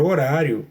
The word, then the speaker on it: horário: Porém, na palavra horário, o H não forma dígrafo, ele é apenas uma letra muda mesmo, que não produz nenhum fonema.